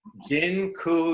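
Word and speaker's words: dziękuję: just taught you all the Polish word for thank you it's Jin ku yeah that I'm not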